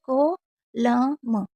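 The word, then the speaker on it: column: इसी तरीके से जैसे को ल म, कोलम, सोलेम, सोलेम, क्योंकि एन साइलेंट है।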